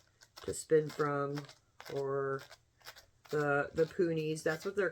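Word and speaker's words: punis: spin from, or the poonies. That's what they're called. They're not called Rolags when it's cotton. It's called a poonie. Which is really weird because it's spelled P-U-N-I-S, but it's the S is silent.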